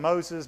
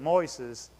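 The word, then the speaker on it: Moisés: This is most people call him Moses, but you pronounce it Moises.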